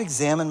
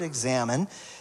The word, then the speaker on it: Examen: It's spelled a little bit different than we, but but it's basically where David is saying, "Hey, God, you've examined my heart."